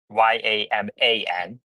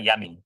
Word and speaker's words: Yaman: Tesla and m t my name is spelled y a m a n not yam yam it's not yaming it's Yaman okay umai hello hi